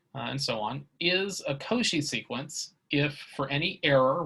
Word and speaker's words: Cauchy: today is that of a koshi sequence because she was a french mathematician that's why we pronounce his name that way so a sequence of